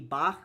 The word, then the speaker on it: Bach: know like Ger like in German his name would be Bach with like a soft ch sound.